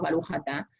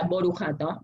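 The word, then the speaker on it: ברוך אתה: Está el sefaradí, como nosotros decimos Baruch Atah, está el ashkenazí, que sería Baruch Atah, pero está la tercera forma de pronunciar, que es una acentuación más húngara, que es Burich Atu. Cambian un poquito, las kamat son U, las shuruk, las U son I, un relajo.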